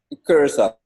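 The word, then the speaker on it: Curaçao: Curacao.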